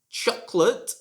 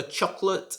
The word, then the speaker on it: chocolate: are very tasty maybe chocolate is even tastier maybe some of you prefer chocolate and this is also a word with a silent vowel you should not say